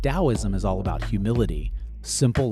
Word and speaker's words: Daoism: Dowoism is pronounced like a d o w i is mm.